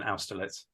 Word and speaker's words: Austerlitz: Well, if you're going for the Germanic pronunciation, Austerlitz.